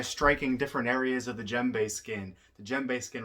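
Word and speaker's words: djembe: that with you so of course the gembe pronounced gembe is one of the most versatile and widespread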